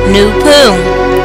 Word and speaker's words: Noopooh: The African original creation powers of the universes are properly and scientifically called Noopooh, pronounced N-O-O-P-O-O, Noopooh.